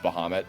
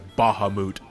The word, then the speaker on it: Bahamut: one who finally canonically confirmed that Bahamut is pronounced Bahamut yeah oh no no you know what I'm